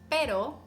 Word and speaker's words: pero: there're words that mean different things whether you pronounce it with ere or erre like pero meaning but and perro meaning dog caro which